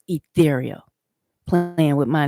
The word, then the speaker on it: E'Thereal: Then you say you can't even pronounce ethereal.